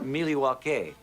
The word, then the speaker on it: Milwaukee: In fact, isn't Milwaukee an Indian name? Yes, Pete, it is. Actually, it's pronounced Miliwake, which is Algonquin for the good land.